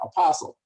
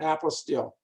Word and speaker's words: apostille: we have trouble because we're used to having the word what apostle the apostle paul the apostle john so we that we tried to pronounce it in that same way but it is a an apple steel now when people are